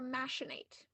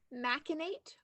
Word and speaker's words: machinate: word has two pronunciations it can be said maate or masenate um continue please repeat both of them machinate or masenate um am